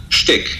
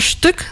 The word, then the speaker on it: shtick: Wydało mi się takie naturalne, że to będzie the sztyk, a nie styk.